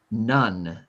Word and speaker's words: none: None. None. U sound. Right. It has the letter O in it, but it sounds like a U.